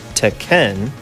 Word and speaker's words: Tekken: since December of 1994 Tekken pronounced correctly as teen and translated to Iron